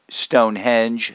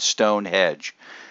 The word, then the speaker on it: Stonehenge: of london called stonehenge it's stonehenge not stone hedge people it's one of those